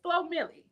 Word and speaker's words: Flo Milli: her thing, and it's Flo Millie. Is that how you say it, Yes.